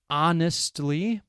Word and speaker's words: honestly: Honestly, H-O-N-E-S-T-L-Y, honestly. Our, H-O-U-R, the H is silent. Honestly. Our. Some words that start with the letter H have a silent H, so you do not pronounce it.